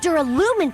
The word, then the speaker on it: Duralumin: he found a smaller case Duraluminum?